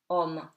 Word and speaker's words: homme: OM before a vowel and M. Remember, M is confirmed when it has the M, so it sounds like M, and after a vowel also it feels stronger, so you pronounce it, okay? So homme, Homme, meaning man.